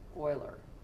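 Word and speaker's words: Euler: equations the spelling e l e r is pronounced Oiler so if you look at these equations at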